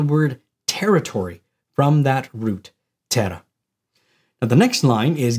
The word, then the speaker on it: terra: pronounce the consonant but in Latin we pronounce the consonant so it's in Tera ter is Earth this